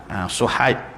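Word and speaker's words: صهيب: Suhaib sad, kalau ejaan bahasa Arab tu sad, Suhaib bukan sin ya.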